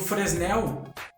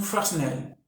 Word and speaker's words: Fresnel: E o Fresnel, ele trabalha muito com esse tipo de iluminação.